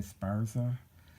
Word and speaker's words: Esparza: hearse yeah that's how you say his name Esparza was in this boy George had a very